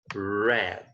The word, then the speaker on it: read: have the verb read I read just four I bought eight books last year but I wrapped just four so the pronunciation here is red okay like the color red so I read the